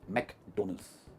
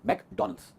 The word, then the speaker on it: McDonald's: और इसकी प्रोनाउंसिएशन है मैकडोनल्ड्स या मैकडोनल्ड्स, दोनों प्रोनाउंसिएशन सही है। यू कैन से डोनल्ड्स, डोनल्ड्स, मैकडोनल्ड्स, बट मैक नहीं है वो, इट्स मैकडोनल्ड्स। The birthday party is eight मैकडोनल्ड्स।